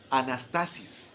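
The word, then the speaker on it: ἀνάστασις: la palabra indagamos más resurrección en el griego se pronuncia anástasis y esto habla de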